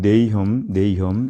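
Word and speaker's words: Nahum: 영어로 볼 때는 네이엄 이렇게 발음하고요.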